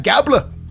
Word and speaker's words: Gable: Championship title it is Chad gabler rhymes with tablet um so they come